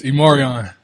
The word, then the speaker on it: E'Marion: It's Immoran.